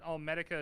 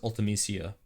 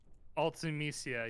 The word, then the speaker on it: Ultimecia: I've only ever heard of it as Ultimecia. Ultimisia, yes, my bad.